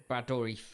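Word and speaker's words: Dourif: Chucky yes what's his name brador yes yes I kept saying blad I kept saying his name wrong right I'll give you I'll give you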